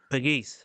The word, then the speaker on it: Pegues: Jesse loves I was gonna say, I do not know how to pronounce his name, but yeah, him. Pegues.